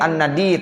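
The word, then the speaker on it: النَّدِيّ: jadi ada an-nadiyu, an-nadiyya, an-nadi, tergantung gimana i'rab nanti, ya, amilnya. Jadi an-nadi, ya, jadi nunnya dibaca fathah, dalnya dibaca kasroh, iya-nya ditasdidkan. Jadi waj'alni fin nadiyil a'la, begitu bacanya.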